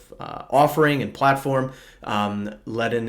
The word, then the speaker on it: Ledn: And so in today's video, I'm going to break down the Ledn offering and platform. Ledn is spelled L-E-D-N, so it's sort of the Lend version of HODL.